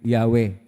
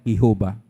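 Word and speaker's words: Yahweh: pong bowels consonance lahat ang pagpronounce po diyan ay yahwe hindi po yua ang pangalan ng Diyos yahwe atin pong nilapastangan ang Diyos kapagka tawagin natin siyang yehova at kung sinoang nagpalaganap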